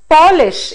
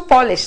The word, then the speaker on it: polish: the meaning changes similarly if you say polish it is a shoe polish that we have again a noun form but then if we say polish we are talking about a person from poland right so accent is extremely